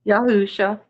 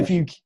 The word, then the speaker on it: Yahusha: For if we believe that, and you pronounce just Jesus, or is there another way you pronounce that as well? Yahusha. Yeah, Yahusha.